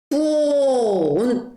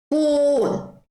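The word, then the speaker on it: フォン: F는 없으니까 하히 후해 호로 합니다. 그 다음에 오 발음이 나와야 되기 때문에 요거를 붙여줍니다. 그래서 후온 해줍니다.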